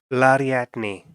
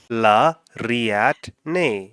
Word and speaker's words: Lariatne: Lariatne. Lariat, but there's an R. Lariatne. It's literally as it's written. Oh, like lariat. So Lariatne.